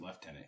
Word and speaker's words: lieutenant: turn over it's a we pronounce it left tenant here well oh my apologies